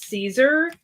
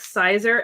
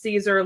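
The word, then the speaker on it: Siser: Um but this is Caesar. Um it looks like Cizer, S I S E R. Um, but it is actually pronounced Caesar, like the Caesar salad. And, um, I've heard people call it Scissor and all these other names, too.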